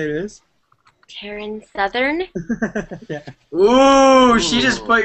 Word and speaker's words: Taryn Southern: Taryn Southern? Yeah. Ooh, she just put your stuff on blast. It's okay. I'm okay. It rhymes with Marin Smothern. Who's that?